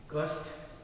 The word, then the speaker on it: कष्ट: कष्ट श आधा ट पूरा।